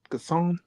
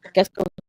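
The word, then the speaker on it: Gascón: Gasson? Is it Gas, Gasson? Gascon, Gascon.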